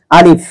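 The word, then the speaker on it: ألف: আলিফ, এটা মুখের খালি জায়গা থেকে উচ্চারণ করতে হবে।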